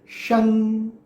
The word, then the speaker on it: शं: तो ये अंग वाला जो एक साउंड है, ये साउंड आएगा श में, शं, ओम शं। दैट इज नॉट एग्जैक्टली न, दैट इज नॉट एग्जैक्टली म।